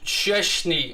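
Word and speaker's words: Szczęsny: a kraken player uh it's pronounced cheshney i'll do my best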